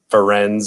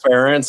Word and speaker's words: Ferentz: And, Ferenz or whatever. And I couldn't pronounce the name and learned it was Ferentz.